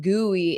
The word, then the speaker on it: gooey: Oh, yeah, the pronunciation of gooey is probably a little off. So we have goo, ooh, and then just e. Goo, e. Goo, e. Ooh, e. Ooey, ooey, ooey.